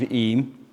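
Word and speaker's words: Eyam: village in 1665 in derbyshire the village of eem you now know how to pronounce it correctly we have families such as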